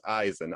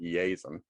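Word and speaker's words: Iason: it as a derivative of jason which is eisen i-a-s-o-n it's the greek form of of jason just fun fact i think they pronounced it easem and then our daughter's name is saffron oh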